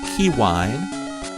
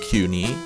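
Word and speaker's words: Kewne: I pronounced his name Kiwine. That's how you're supposed to pronounce it. Although it could be pronounced Kuni, but I'm going to pronounce it Kiwine for the entire LP.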